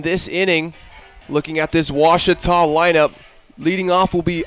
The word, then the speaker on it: Ouachita: Wichita. Achita. Ouachita. Is it pronounced Ouachita? Searching for Ouachita Baptist University. Back in Texas, everybody pronounces it Wichita, but really, It's Washita.